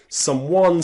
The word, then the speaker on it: someone: So whenever you see some and then another word combined with it, someone, somewhere, something, somehow, you'll notice the letter E is silent.